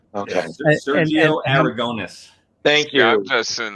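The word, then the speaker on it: Aragonés: Sergio Aragonis. Thank you. I'm just sitting there listening to how he pronounces each. Yeah, that was. I always called it Oreganos.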